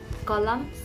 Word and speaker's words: column: is not pronounced or n is silent when it comes after the letter m at the end of a word in a word if the word ends with the letter m and n and when n comes after the letter m and is always silent column c or l